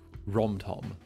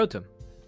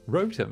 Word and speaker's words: Rotom: Rotom. Rotom, not Rom-Tom. No, there's no additional M. I think I'm just going to go die now. I think I'm just going to go die. Yeah, Rotom.